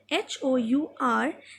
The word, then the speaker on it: hour: Because when we say Hour, then we do not pronounce the letter H, and we write an R.